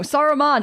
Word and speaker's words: Saruman: go off and talk to Sauron because no Saruman oh my God that's why I always say